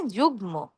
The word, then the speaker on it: যুগ্ম: গ, ঙ, ট, ন, ন, ম, ল। এই বর্ণগুলোর সাথে ম উচ্চারণ বহাল থাকে।